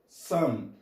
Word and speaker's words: some: Algumas, alguns, alguma, eu falo some. Lembre-se, o sonzinho do E não é pronunciado.